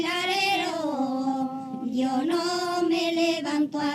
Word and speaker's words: Larero: So the first time it's Larín, Larero. If you can roll the R's, that's great. And if you can't roll the R's, that's fine too.